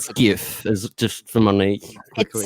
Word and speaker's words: GIF: This is whatever his name is, Derek from, Giphy, and it is pronounced GIF, not GIF." And I'm like, "You lie. It is not fucking GIF. It is GIF like the peanut butter."